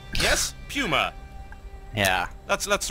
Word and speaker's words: PuMa: I believe Apollo is the correct way to pronounce it pummer yes pummer yeah that's that's right yes PW pummer just